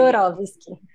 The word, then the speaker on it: Kaczorowski: Como é que se pronuncia? Kaczorowski.